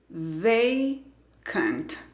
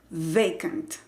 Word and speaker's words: vacant: Esta palabra tiene dos sílabas. Entonces, vamos a analizarla. La primera sílaba, ve, se escribe con una vocal. La vocal A, la letra A, se escribe con la A. La pronunciación es con el diptongo E. Ve, ve. La segunda parte se pronuncia con el sonido schwa, cant, vacant, vacant.